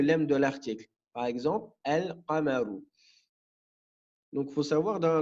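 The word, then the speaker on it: القمر: On dira al-qamaru. Donc le qaf, il fait partie des lettres lunaires. Donc le lem, on va le prononcer. On dit al-qamaru.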